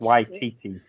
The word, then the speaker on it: Waititi: Taika Waititi. Yeah. I think that's, or I might be pronouncing his first name wrong, but I think it's Waititi. It is.